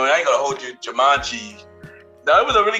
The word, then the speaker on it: Jumanji: Yo, Jumanji. That's how you pronounce it.